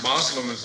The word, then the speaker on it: Muslim: And following up on that question, what's the difference between Muslims and Muslims? Oh, no difference. Muslim is the correct way to say it, and Muslim is just a Western corruption.